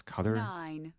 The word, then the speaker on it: Qatar: Qatar we have the Qatar command I feel like I'm not pronouncing it right it's cutter anyway no need to travel